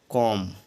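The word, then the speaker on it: comb: हैं B silent क्योंकि यदि एम के बाद बी आए तो बी साइलेंट होता है जैसे सीओ एम बी एम के बाद बी आया हुआ है तो यहां पर बी साइलेंट इसको पढ़ेंगे कॉम अगला है बी ओ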